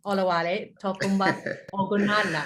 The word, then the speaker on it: Olawale Ogunlana: Olawale Ogunlana. Have I pronounced that correct?